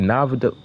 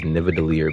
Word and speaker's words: Nidavellir: He said Navada. But yeah, to not be all over the place, it's the correct pronunciation is Nidavellir, because in the MCU, in Marvel, in terms of Thor or whatever, when he was traveling there, they was like on the path to Nidavellir.